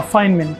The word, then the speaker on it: Feynman: Uh Feynman, correct. It is spelled as F E Y N M A N N, but then also I'll call it Feynman technique. Actually, he's one of the physicist and a Nobel Prize winner.